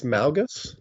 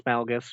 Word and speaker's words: Malgus: kind of think it's Malgus but yeah oh yeah I guess there mgus Malgus whatever it is I pronounce it like yeah I pronounce it with like that low a so Ma malas so